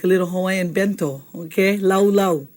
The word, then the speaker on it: laulau: start with laulau and everyone say laulau ends with an oo sound okay are you saying